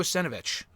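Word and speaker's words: Savinovich: At E13A, did you hear about Andrade's controversial interview with Hugo Senovich? That's how you pronounce his last name.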